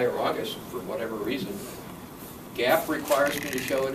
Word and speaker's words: GAAP: It's based on generally accepted accounting principles, GAAP, pronounced GAAP.